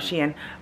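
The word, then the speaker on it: Shein: is she and the the way that they put it was like she in Sheen so that's how I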